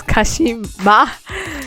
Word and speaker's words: Kashima: It's Kashima.